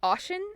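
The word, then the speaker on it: Oisín: And I'm sure like I think Ocean is how you say Oishin, which is the Oishin, but like some people pronounce it differently.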